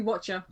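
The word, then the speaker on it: Wachter: Sorry, no, it's actually Lady Watcher.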